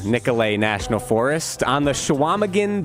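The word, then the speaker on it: Nicolet: of what what was that uh it is pronounced shaaman nicolay National Forest on the shaaman bay up near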